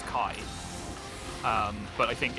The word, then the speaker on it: Chi: pun on keyblade yeah they pronounce it key which is wrong because like the greek letter is kai um but i think